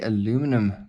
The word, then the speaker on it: aluminum: As you can see, it's a aluminum body, or aluminium, whichever way you like to pronounce it. So that we like to say aluminium.